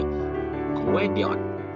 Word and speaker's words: Gwendion: My name is Gwendion. It is pronounced Go-in-di-on.